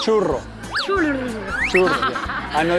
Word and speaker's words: churro: Churro. Churro. Yeah. I know it's difficult to pronounce for Chinese people because the R is churro.